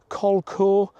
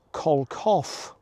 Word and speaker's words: Kelso: The original pronunciation is thought to have been Colco or Colcoff.